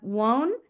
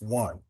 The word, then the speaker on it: One: I think we have one. Am I pronouncing your name right? It's one. One. Apologies. Like the number.